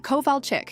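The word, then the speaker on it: Kowalczyk: "Covall chick," she corrected tursly.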